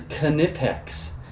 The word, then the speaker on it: Knipex: out for these one and the K is pronounced it is knipex there's a whole video